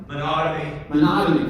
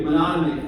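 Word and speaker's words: Menotomy: I can't pronounce it. Monotony? Somebody help me? Monotony, thank you. Monotony.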